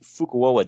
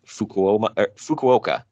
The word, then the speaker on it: Fukuoka: Junior heavyweight title shot at next month's huge fukuoa Dome show I think I pronounced that right Fukuoka excuse me whatever I don't I don't Japanese